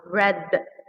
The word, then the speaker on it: read: let's guys focus here the verb read is also written read in the past but it's pronounced red like the color so breathe red drink